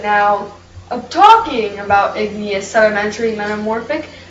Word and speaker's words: metamorphic: Is it metaphorics? Actually, it's pronounced metamorphic.